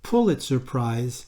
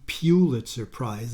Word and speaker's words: Pulitzer: innocence and by the way that is the pulitzer prize not the pulitzer prize as many people like to pronounce it the third stamp in the series